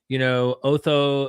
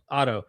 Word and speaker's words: Otto: And when you're explaining John Day, when you're explaining, Otho, is it Otho? Is that how you pronounce it? Eckhart Otto? Otto.